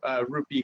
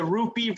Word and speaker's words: Rupi: I love that Rupi rhymes with poopy.